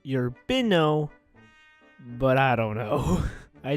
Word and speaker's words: Urbino: I pronounced this totally wrong when I was reading through it. It's if I'm correct, it's pronounced Urbino, I'm gonna say it's Urbino, Italy. I could be completely wrong though, but I know for a fact it's not urban.